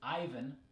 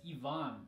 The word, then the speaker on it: Ivan: about this one that's in English it's Ivan and in Russian it's Yvonne Yvonne and the short form